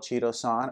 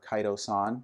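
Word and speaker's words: chitosan: then we also have something called cheeto-san or kaito-san depending on what pronunciation you're looking at and this comes from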